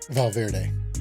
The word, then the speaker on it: Valverde: Valverde.